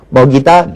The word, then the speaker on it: 먹이다: 발음하지만 호랑이만 표준 하고요 먹이다 맥이다 가운데 이제 먹이다 표준화가 되는 거죠 이외에도 역시 이모 역행동화